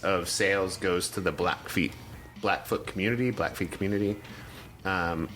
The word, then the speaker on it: Blackfeet: i'm saying it wrong is it always feet or is it black foot it's black foot i don't know but it's black feet it's called the black feet tribe is it yeah